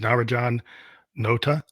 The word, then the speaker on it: Narajan Nota: make sure I got your name but is Naraj Johan Nota is that the right way to say it